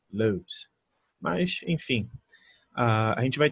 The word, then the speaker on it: Lewis: Lewis, mas se fosse uma pronúncia um pouquinho mais inglesa mesmo, seria Lewis, Lewis.